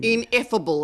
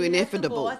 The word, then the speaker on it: ineffable: it is beyond description ineffable as opposed to ineffable because you just added a syllable there sounded like INE inevitable there's no real adjective